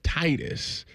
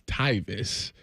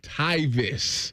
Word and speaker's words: Tyvis: He says Titus, and I said, and Jeff goes, it's Tyvis, and then we go, how do you say your name? Tyvis.